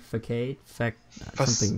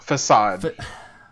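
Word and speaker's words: façade: they're all just I don't know how to pronounce the word a fact facade well I was way off facade um they're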